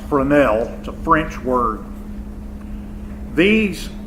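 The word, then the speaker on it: Fresnel: I know it looks like Fresno but it's pronounced Brunell to French word these names well they're the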